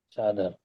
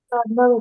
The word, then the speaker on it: sadhana: Sadhana Bhakti. Yeah, this is sadhana bhakti, Sadhana. not sadhana.